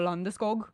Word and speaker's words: Landeskog: And Gabe Landeskog specifically, Sweden, he says it all like Gabriel Landeskog is how he says it in the native tongue way.